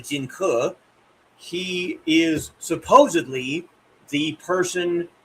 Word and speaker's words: Jing Ke: Uh Donnie plays uh as as Duncan pronounces it, Jing Ke. It's actually Jing Ke.